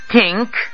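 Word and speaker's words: think: পাটির দাঁতের গোড়ায় কিন্তু ইংরেজিতে থ উচ্চারণ করার সময় জিহ্বার আগা থাকে উপরের দাঁতের পাটির ঠিক মাথায় দাঁতের একেবারে টানতে থা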